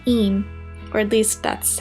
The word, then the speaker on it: Eyam: if we could go to a village called aim or at least that's how I pronounce it I'd been once before when I